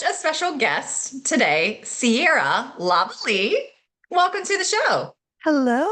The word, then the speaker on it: Lavallee: wow so his his his dad is from Belgium that's why so Laval is how it's pronounced but he had the